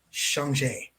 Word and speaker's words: Shanghai: weeb about it but i am going to go with the proper pronunciation thanks to thanks to home and thanks to this chinese girl with braids that uh that did it priced she or she taught the the proper pronunciation of the movie and that is shanghai yeah china does not